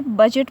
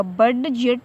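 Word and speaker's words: budget: example देखें, इसे बजट पढ़ा जाएगा, यहाँ पे डी जो है, डी जी एक साथ में आए हुए हैं तो डी जो है साइलेंट होगा, इसे बजट पढ़ा जाएगा, बड जेट नहीं पढ़ा जाएगा बल्कि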